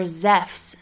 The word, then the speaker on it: Ζεύς: Zeus, or Zephs as his name is pronounced in Greek, is probably the most well-known of the ancient Greek gods.